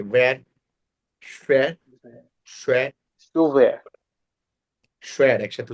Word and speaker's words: schwer: তারপর সুফার উচ্চারণটা কি? das muss SCHWER সুয়ার আর কারণ সুফার।